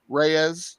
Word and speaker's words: Reyes: Reyes.